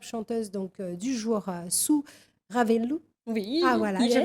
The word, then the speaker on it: Ravelo: Alors c'est, Sou, oui, tout on prononce. collé, et Ravelo, Soua Ravel, Ravelo en fait, Soua Ravel sur Facebook et Instagram.